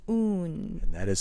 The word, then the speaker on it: Oon: and it is called un and that is spelled o o n if you take the word bassoon and then take the word bass out of it you're left with un pardon me for interjecting